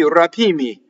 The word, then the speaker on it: rapimmi: So M is like double L. Single M would be rapimmi. So I wouldn't let the M do that for even a millisecond. Rapimmi, double M.